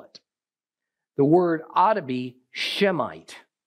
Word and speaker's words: Semite: the sense of how you pronounce it and spell it the word otabe shemite not Semite okay the error is a typical Gentile one